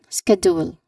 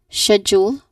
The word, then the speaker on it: schedule: So as we discussed earlier the corre correct pronunciation should be schedule as in in British English or schedule uh in American English.